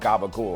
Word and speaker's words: gabagool: time were coming over, the hard G sound, like go, was interchangeable at times with the hard C sound in English, like car. So capicola became gabagool, and it kind of hung around with that.